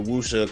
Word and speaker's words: wuxia: I think that's how you pronounce it. It's WXIA or WUXIA. It's like the wuxia kung fu style that some of the greatest directors coming out of China. You're right, wuxia.